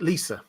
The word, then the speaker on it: Lysa: Lysa, this was, incidentally, George R. R. Martin pronounces it Lisa, in case you wanted to know. He doesn't care how you pronounce his characters' names, but yeah, I always find it amusing when he pronounces a character name completely differently to how we do. But yeah, I say Lysa.